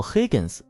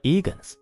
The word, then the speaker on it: Higgins: 比如希金斯的名字叫 Higgins，开头有个 H 的音，